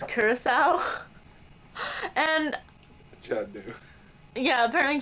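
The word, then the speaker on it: Curaçao: alcoholic liquid, everyone I know calls it blue Caraco.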